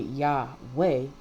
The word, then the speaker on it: Yahweh: say his name anyway is y-h-wh right and when you breathe in it when you breathe in and out you're not pronunciating anything right so the A and the E come into play so you can pronounce it Yahweh that represents Adam and